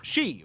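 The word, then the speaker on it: 四: You see, in Japanese, four is pronounced she, which is also a homophone for death, which makes the whole thing feel even creepier and more deliberate rather than coincidental.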